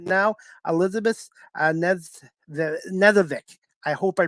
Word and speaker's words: Knezevic: You know, when people see that KN, they're not sure is the N like more pronounced than the K. Anyway, it's Knezevic.